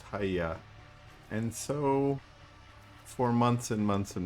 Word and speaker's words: hyy: It is Hia or Hy game friend told me his name is pronounced hya.